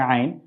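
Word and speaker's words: عين: হামজা এবং আইনের মধ্যে পার্থক্য হচ্ছে হামজার উচ্চারণ আ, সাধারণ আ দিয়ে আমরা করি, আর আইনের উচ্চারণ আমরা হচ্ছে আইন, এখানে একটু কণ্ঠনালীর মধ্যখান থেকে উচ্চারণটি আসে, আ, ই, উ, আ, ই, উ।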